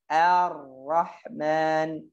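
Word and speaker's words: الرحمن: Tapi hati-hati a-nya, jangan ikut-ikutan or, jangan or. A, r ya. Ar-Rahmanir-Rahim. Ar, jangan bacanya r di bawah, di atas gitu ya. Ar-Rahman. Bacanya begitu.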